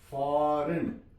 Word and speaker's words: foreign: फॉर example FOREIGN, ये एन से पहले जी आ गई है तो यहां पे जी साइलेंट हो गई है। फॉरेन, फॉरेन, जी साइलेंट है।